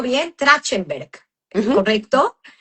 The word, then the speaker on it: Trachtenberg: El apellido Trotner viene de, a ver si lo pronuncio bien, Trachtenberg, Ujú. ¿correcto? Trachtenberg, sí.